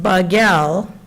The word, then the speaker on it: BAGEL: community so originally pronounced bagel and more recently Bagel like the roll it meant blue for